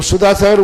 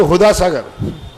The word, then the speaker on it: सुधा सागर: तो सा के स्थान पर हा बोल देते हैं। वहां हम जाते हैं ना, तो सुधा सागर बोलते हुदा सागर, क्योंकि वो उच्चारण किसका करेंगे? हा का उच्चारण करते हैं। तो कई बार तो मैंने कहा भैया ये हुदा सागर नाम मत बिगाड़ो।